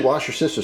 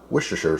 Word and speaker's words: Worcestershire: and two next is the washer sister sauce or Worcestershire sauce which I guess is how it's pronounced all right so we